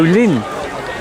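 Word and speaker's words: Llyn: Oh, Lynn. Well, do you want to walk down here? Want to look down here? Yeah. Texels? So although it's pronounced Lynn, it's spelled Lynn.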